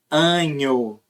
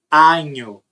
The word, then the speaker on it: año: Inclusive, muitos falantes de português que começam a aprender espanhol falam anho. Eles não falam assim. Eles falam año. Feliz año nuevo. Né? Então é año, año.